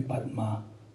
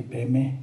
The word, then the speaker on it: Padme: this mantra on money that actually should be padma to usually pay me guess what how we